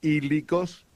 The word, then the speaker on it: hílicos: Están los hílicos. ¿Cuál? Los hílicos. Hílicos. Eh, estamos hablando ahora en griego, ¿okay? Están los hílicos con h. Se escribe con h primero y después latina. Ílicos, los psíquicos que vienen de la psiquis y los neumáticos.